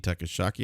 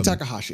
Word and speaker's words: Takahashi: If you guys saw this with Dean, I can't ever pronounce his last name. Dean Takashaki, I think it is. Dean Takahashi.